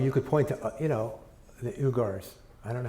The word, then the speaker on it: Uyghurs: And you could point to the Uyghurs. I don't know how to pronounce them, but they have a shit life thanks to the Chinese, and they get Uyghurs, thank you.